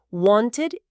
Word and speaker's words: wanted: Sí, mencionaron también las terminaciones del pasado simple, el famoso ed, que tiene tres pronunciaciones distintas. T, d o id, ¿cierto? Stopped, t, played, d, wanted id.